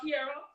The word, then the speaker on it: Keira: well what I want to do right now Kiera I'm pronouncing your name correctly yes you are okay